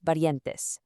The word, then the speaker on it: parientes: Let's practice that pronunciation together, giving a nice soft tap to that R, los parientes.